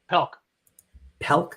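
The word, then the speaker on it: Pelc: Well, so the first part is Marvel Man in Japan, the Gene Palick story, part 1. Spider-Man goes abroad. Huh? Pelk. I Gene Pelk. said his name wrong, didn't I?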